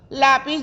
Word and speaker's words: lápiz: pis y resulta que lápiz, lápiz lleva el acento en la penúltima sílaba, que sería la sílaba tónica, y entonces lápiz es una palabra grave.